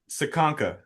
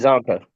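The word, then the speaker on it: Csonka: Is it Ronnie Brown, Raheem Mostert, Ricky Williams, or Larry Sakanka? That's Larry it. Zonka.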